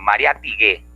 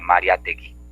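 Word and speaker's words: Mariátegui: Pero de nosotros, los mayores, digo Mariatigüe, ¿no? En vez de Mariategui, se confunden.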